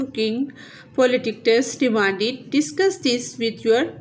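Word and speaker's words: Polydectes: Next है pronunciation guide, जैसे ये डेने, ऐसे परस्यूस, पर सीऊस, पोलिडिक्टस, पोलिडिक्टस, मेडूसा, मेडूसा, एंड्रोमेडा, एंड्रोमीडा, ऐसे डिक्टस, डिक्टिस।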